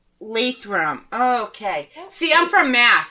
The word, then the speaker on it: Lathrop: It's Lathrop. Lathrop. Okay. See, I'm from Mass, so it would be pronounced different.